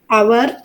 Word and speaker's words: hour: a few words like our honor and honest so in these three words the first letter H is a consonant which is silent so you have to